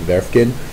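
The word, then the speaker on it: Werefkin: Is how you pronounce her last name, Werfkin.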